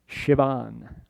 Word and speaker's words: Siobhan: It never spelled the way it's pronounced, right? Right? Niamb, Neve, right? Siobhan, Shivan, right?